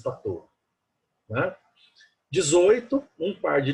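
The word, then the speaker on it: Patau: Escreve-se Patal, pronuncia-se Patot.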